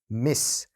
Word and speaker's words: Miss: 요 둘은 발음 차이가 좀 납니다. 여기에는 약간 Z 사운드를 말씀해 주시면 되고요. 이건 완벽하게 S 사운드를 말씀해 주시면 돼요. Ms, Miss.